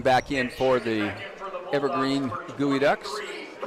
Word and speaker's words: geoducks: Looks like Garrett Long back in for the Evergreen Gooey Ducks. I'm sure glad you told me about that. I would have called them Geoducks.